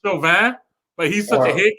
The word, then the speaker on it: Chauvin: Derek Chauvin, the cop that killed, murdered George Floyd. I mean, I said his name wrong at first. Honestly, it's a French name and it's pronounced Chauvin, but he's such a